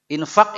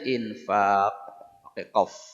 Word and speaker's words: infaq: ya itu qf nah ini kalau tidak dipelajari salah bunyinya ya infak ini sudah jadi bahasa Indonesia tulisannya gini jadi bacanya juga infq pad mestinya dia infa poke q ya FAQ ya itu yang